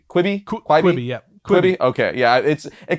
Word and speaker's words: Quibi: But moving on to movies and television, we have, I don't know how to even pronounce this name. I think it's Quibi? Quibi, yeah.